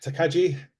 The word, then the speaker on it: Takagi: For Christ's sake, Takagi, is that how you pronounce it?